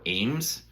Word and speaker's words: AEMS: But maybe a year and a half ago, I got one of these, which is the Holosun AEMS, or AEMS is the way it's pronounced, I'm told.